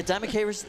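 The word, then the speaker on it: Dimachaerus: it is to pronounce yeah diamondis is apparently the proper pronunciation and I believe it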